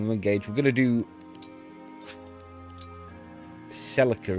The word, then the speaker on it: Celica: we're going to do Celica isn't it oh pronounced not Cecilia Celica we're going to do